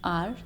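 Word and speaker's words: hour: इसके अगर next rule पे अगर हम जाएंगे तो वो है वर्ड स्टार्टिंग विद एच, जिसके अंदर एच साइलेंट होता है. इसके एग्जांपल क्या है? आर, honourable, honest person.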